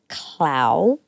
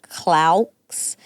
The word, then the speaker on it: Claux: That's Nico Clau. Nico Clau. Claux. I feel guilty because I know I would have pronounced it Claux, but you already told me it was Clau.